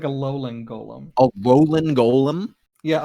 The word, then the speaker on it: Alolan: It looks like a Alolan Golem.